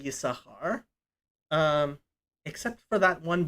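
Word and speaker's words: Yissachar: people will say yisashar generally that sin is is silent and it's the only time i i can think of that as sin is silent but in that name basically everybody will say ysahar um except for that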